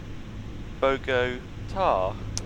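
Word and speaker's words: Bogotá: Oh, Sydney says the emphasis is on the last syllable, so it's Bogota.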